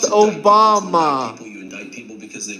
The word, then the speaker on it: Obama: It's pronounced Obama.